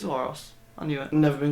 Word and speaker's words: Aorus: Aorus - it's Aorus. I knew it. Never been good at pronouncing things.